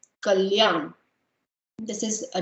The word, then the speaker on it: Kalyan: So the first one, it's pronounced as k, k, and I have some names under it which you can pronounce. So k, k, l, yan, kalyan, kalyan.